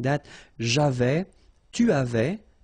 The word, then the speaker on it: avais: So, j'avais, final S not pronounced.